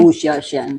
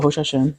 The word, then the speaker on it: Hsiao-Hsien: Sorry, my pronunciation. And do you have like an anecdote to share about With working with Sylvia. Wu Xiaoxian? Oh, Hsiao-Hsien.